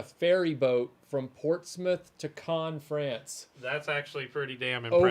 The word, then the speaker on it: Cannes: It's pronounced Yeah. Cannes, by the way, not Cannes.